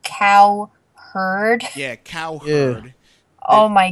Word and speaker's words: Cowherd: can call him Coward. No. Cow. Wait, his last name's actually Cowherd.